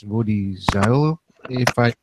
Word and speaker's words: Zuill: Yeah, you can think of me as being Woody Zuill with cool. Oh, the cool Zuill.